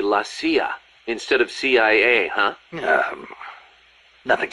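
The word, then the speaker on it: la CIA: around here they say la sia instead of c.i.a huh nothing strange about it that's how it's pronounced when you read it in spanish it has the feminine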